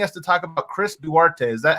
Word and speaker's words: Duarte: here are wanting us to talk about chris duarte is that how i say his name harrison